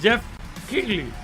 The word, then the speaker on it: Jeff Keighley: Acordaros cómo se dice, Jeff Keighley. No Jeff, ni Geoff, ni... Es Jeff Keighley.